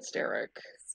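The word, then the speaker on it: Staryk: Americans say starrick steric I said steric so I pronounce it like Eric like Eric why did it say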